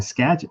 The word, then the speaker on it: Skagit: But I would like to say thank you, Gary, for pronouncing Skagit correctly, which is not meant as a derogation of DJ Play Nice.